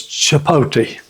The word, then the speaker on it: chipotle: was reading the bottle if you read it the way it's spelled I was saying chiple and she had a good life out of that but anyway it's chipot so I'm going to go